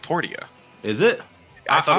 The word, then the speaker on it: Portia: portion it is i know but it's it's pronounced portia is it i thought it was so i'd been calling it no i've been calling it porsche but in game if you talk to the